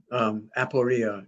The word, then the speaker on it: aporia: Aporia? Is that how you pronounce it? Well, that's like not knowing, aporia.